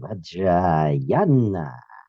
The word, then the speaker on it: Vajrayana: Write it without that long a that technically and scholastically. And you're going to put it on there. It's a long a vajana.